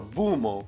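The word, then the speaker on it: Mbeumo: If you have not wildcarded and you're just doing transfers and you want 3 Brentford, Mbuemo as an option, especially if something happens with Tony, because Mbuemo, or Bumo, how it's pronounced actually, is on penalties after Tony.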